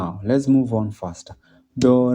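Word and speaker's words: doh: So the first note is called do, as in D-O-H, do.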